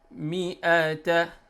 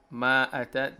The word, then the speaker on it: mi'ata: first line, we have mi'ata. So they don't have to say ma'ata. The mim has kasra and alif is silent here.